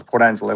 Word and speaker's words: Port Angeles: Uh Angelus. Angel. Port Angeles. Like Los Angeles.